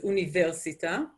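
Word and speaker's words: אוניברסיטה: internet is internet no change university was actually pronounced as universita theater is pronounced as terton and you can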